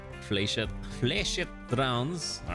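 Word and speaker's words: flechette: That's probably why I pronounced it like fletchetti when it's I guess fchet or fchet. Okay. So, I'm not crazy. It's just more I didn't know how to pronounce it correctly. Fletchet. Fleshet rounds.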